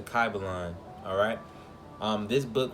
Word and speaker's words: Kybalion: from the book called the key belong or pronounce the car belong alright this book right